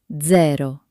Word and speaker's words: zero: In English, it's soft, but in Italian, it can sound like ts ts ts as in pizza or dz dz as in zero. Let's try again. Pizza. Pizza. And zero.